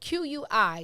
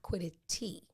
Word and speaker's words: quiddity: in the pronunciation of this word okay spelled q-u-i-d-d-i-t-y but pronounced quiddity like not quitted t okay it's a latin word from the 14th